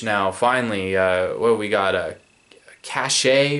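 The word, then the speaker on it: Caché: Cache or Cash? Yeah, Cash, but it's spelled C-A-C-H-E with like an apostrophe or whatever over the E at the end there.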